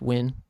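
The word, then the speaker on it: Nguyen: Uh, it's funny how common that last name is and how no one who's American knows how to pronounce that. Except I feel like now more and more people are um aware that's pronounced win.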